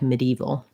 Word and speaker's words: medieval: That syllable gets reduced and dropped, and it just sounds like medieval.